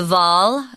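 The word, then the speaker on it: Waal: by the Ry the V it's pronounced with a V sound and not a w and the Muse Rivers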